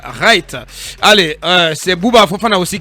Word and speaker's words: Wright: En anglais, si le W est précédé par le R, on ne prononce pas le W, on dit Charles Wright.